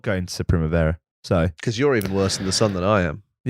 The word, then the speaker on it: Primavera: it's pronounced Primavera.